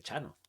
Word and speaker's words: Txano: Me hizo gracia en cuanto leí lo primero que dije, Chano, Chano, con TX.